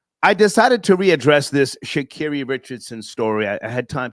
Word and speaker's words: Sha'Carri: Sha'Carri, yeah.